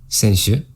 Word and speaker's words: 先週: We've got senshu, senshu, zenshu, zenshu. Alright, so this is senshu. And keep in mind that's a long vowel sound at the end. Shu, not shu, shu.